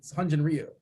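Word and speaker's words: Hyun-jin Ryu: It's Ryu, Grant, and not to be that guy. It's Hunjin Ryu.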